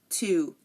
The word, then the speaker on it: two: like answer sword and two the letter two the number two I'm sorry again answer sword and two the W here is silent and now um honestly